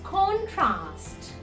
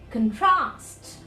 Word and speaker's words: contrast: so it's for the in the noun form it's contrast but in the verb form it will be contrast contrast so in this